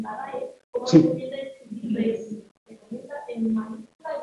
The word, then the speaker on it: Brexit: Y lo deberíamos pronunciar Brexit.